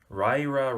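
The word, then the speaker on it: Riyria: This is volume 1 of the, I always get the pronunciation of this wrong, Weir Revelations. I believe that's how you pronounce it, according to an interview with Michael J. Sullivan.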